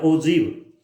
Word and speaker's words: ogive: इसका हिंदी में प्रोनाउंसिएशन जब आप करेंगे या इंग्लिश में प्रोनाउंसिएशन करेंगे तो ओजीव बोलेंगे इसको, ये त्वरण।